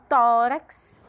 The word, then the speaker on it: tórax: Então, tórax, a sílaba tônica é o tó. E como é a penúltima, é uma paroxítona.